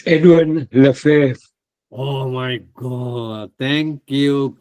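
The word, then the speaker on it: Lefèvre: I think Lefamo or something like that. What is the pronunciation, Shreya? It's Edwin Lefebvre.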